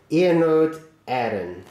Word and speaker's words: Iarnród Éireann: Well, at least I hope he's told me how to pronounce it correctly anyway. I'm sure he has. I trust him. So there we go. Iarnród Éireann.